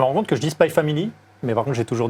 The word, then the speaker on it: Spy x Family: tel que ça doit être prononcé, c'est-à-dire sans le X. Donc j'essaye de me forcer à dire Hunter x Hunter et Spy Family.